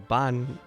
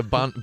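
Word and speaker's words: 万: it's a bond bond it's like the kanji for ten thousand and it's like ten thousand remedy ten thousand was hot I was mine yeah it can also it can also be pronounced bomb yeah so it's it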